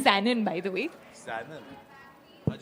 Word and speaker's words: Sanon: It's Sanon, by the way. Sanon. How'd you pronounce it?